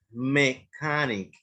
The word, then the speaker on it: mechanic: Mechanic no se lee así, ¿ok? Lo vamos a decir mechanic, mechanic, ¿ok? Mechanic. No lo van a mencionar como una CH, por favor, cuando vayamos a trabajar. Mechanic sería la pronunciación correcta.